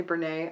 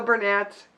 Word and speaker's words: Bernat: although sometimes i say brene i have to say i love doing the french pronunciation of words even though it's not right so bernat bernay blanket stripes so we